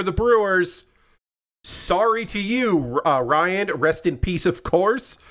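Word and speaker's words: Ryne: Pronounced Ryan. Okay. Pronounced Ryan. Okay. Ryan, but R Y NE, but like R Y an Ryan.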